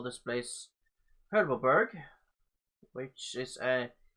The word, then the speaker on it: Herbabot: Yeah, I think Herbabot is gonna be the correct, the official pronunciation.